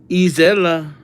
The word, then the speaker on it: Isella: Isella. Is that? Okay, Isella. Is Ella, which rhymes with Bella.